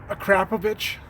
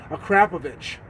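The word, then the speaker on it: Akrapovič: beautiful titanium blue boats a crap a yes my Slovenian friends told me that is how you pronounce it a crap a we got their exhaust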